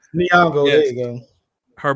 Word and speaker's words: Nyong'o: Nyong'o? Nyong'o, yes.